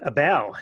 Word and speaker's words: Abell: Abell like table. Abell like table.